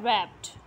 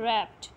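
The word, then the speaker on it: wrapped: इसी तरह आप ये देखें, यह है वर्ड है रैप्ड. ठीक है, रैप्ड, इसमें डब्ल्यू तो साइलेंट है, ठीक है, लेकिन स्टार्टिंग जो साउंड है वो कौन सा है, वो कॉन्सोनेंट साउंड है, रैप्ड.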